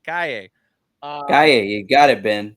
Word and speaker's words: Calle: Or I gotta say it right, Calle.